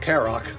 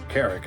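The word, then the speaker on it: Carrock: from Conflict at the Carrick not carck Carrick what burning brand does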